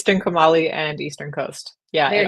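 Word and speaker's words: Trincomalee: And then you've got Trinkuma. And I'm gonna let you've got to pronounce that. Hana. What? Say that. You're so much better with language than I am. It's Trinkumali and Eastern Coast.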